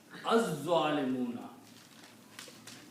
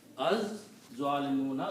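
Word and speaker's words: الظَّالِمُونَ: Also, so when you combine and read them together, za is a shamsi letter. It kills the sound of lam. And you pronounce za twice. Az-zalimuna. Az-zalimuna.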